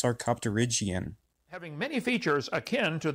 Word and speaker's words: sarcopterygian: Well, if this wasn't your first time reading your PowerPoint, you would know that it's pronounced sarcopterygian.